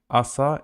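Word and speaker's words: оса: the example is Asa ASA it's like a b but not b ASA also they write o but it's pronounced like ah Asa in this world in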